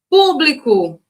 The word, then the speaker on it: público: Público. Público, ó. É acentuada e é a antepenúltima, é o nosso gabarito.